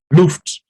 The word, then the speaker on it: Luft: key open window which is called in chess loofed i'll spell it so you can remember it luft so